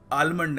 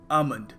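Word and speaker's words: almond: देखिए, यहाँ पे जो L है इसको हमें प्रोनाउंस करने की आवश्यकता नहीं है, सो हम इसको आलमंड नहीं कहेंगे, हम कहेंगे आमंड।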